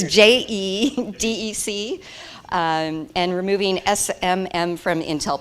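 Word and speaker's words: JEDEC: specifications such as a CPI PCIe can you pronounce this JJ deck it's je dec and removing SMM from Intel platforms welcome thank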